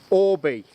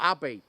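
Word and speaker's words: Åby: b a b or Abby yeah but it's not it's pronounced Orbee in Swedish so the halter Force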